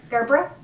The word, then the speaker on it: Gerbera: Hello, it's Phil Thatch here again, and once again, Heather's, how do you pronounce Gerber, Daisy? Gerbera.